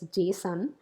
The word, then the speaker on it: JSON: First of all, you pronounce that particular word as JSON.